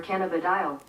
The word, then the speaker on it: cannabidiol: What if we asked Google how to pronounce that? Okay, Google. What does CBD stand for? CBD stands for cannabidiol.